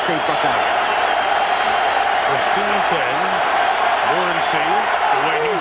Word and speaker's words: Morency: Morency, the way he said he wants it pronounced, alone in the backfield.